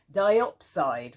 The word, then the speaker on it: diopside: This is diopside, which is spelled D-I-O-P-S-I-D-E.